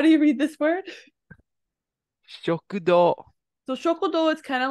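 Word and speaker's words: 食堂: So what's this ending part of shoku is pronounced as for diner? Do. Yep. Do. Shokudo.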